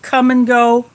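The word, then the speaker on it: Kum & Go: our we have quick trip here we have come and go it's spelled k-u-m then n then go geo that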